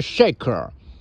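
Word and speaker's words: shekel: currency 叫那个谢克尔，实际发音是 shaker 啊。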